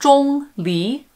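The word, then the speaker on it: 钟离: tones it's just pronounced chong li which is first tone and then a second tone so for those of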